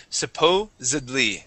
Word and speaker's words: supposedly: Supposedly, supposedly.